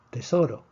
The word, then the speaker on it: tesoro: Tesoro tiene 3 sílabas, tesoro, termina en una vocal. Predecimos que el acento debería estar en la penúltima sílaba. Si está en la penúltima sílaba, no escribimos el acento de excepción.